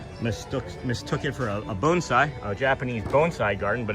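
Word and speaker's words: bonsai: like I myself mistook mistook it for a bonesai, a Japanese bonesai garden, but it is different. It's a It's a penching garden. We all say it wrong. It's bonesai. It's pronounced bonesai.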